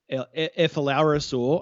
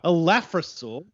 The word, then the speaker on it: Elaphrosaur: But yes, the Elaphrosaur, Ephlorosaur, I think you said. Ephlorosaur. Yep. I mean, how could you? Well, Elaphrosaur. Just depends on whether you want to say it correctly or not, Jake.